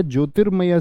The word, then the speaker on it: ज्योतिर्मय: मैंने क्या सिखाया आपको रिफ रूप का प्रयोग जिस व्यंजन पर है उससे पहले उसका उच्चारण होगा यानी इसकी ध्वनि कहां गई यहां तो बोलिए जोरति जोरति में होगा जोय शब्द है या ज्योतिर्मय शब्द है तो बी एकदम से